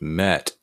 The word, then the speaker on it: met: Remember, this is a closed syllable. If it was just me, it would be an open syllable and it would be not eh, but e. Me. That would be an open syllable, but it's not, has a T at the end.